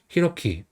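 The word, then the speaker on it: 洋輝: 그래서 히로키 9번은 스기와라 유키나리입니다. 그래서 한자는 골프간 근원이 합차지 한자예요. 그래서 스가 그다음에 근원은 와라고 읽어요.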